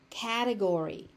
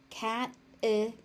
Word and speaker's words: category: Category. Category. Category. So again, the Y is pronounced on the end.